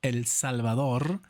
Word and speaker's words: El Salvador: Now El Salvador or El Salvador, that's how you say it, and roll that R, only cost me about 6 years of my life to be able to do that.